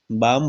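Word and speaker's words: balm: एक वो होता है बी ए आ बाम बोलते हैं बालम नहीं बोलते क्योंकि हम से पहले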